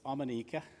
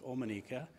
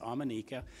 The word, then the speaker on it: Omineca: with that name it's amenika uh people think of the omen so it looks like omanika people think of neca there's a number of different things but it's it's actually pronounced amenica it's the name of